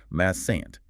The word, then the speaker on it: mustn't: Mustn't, dropping the T sound before the N, though the T is written.